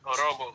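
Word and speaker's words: Ouroboros: Is that how you pronounce that? Yeah, Orobos.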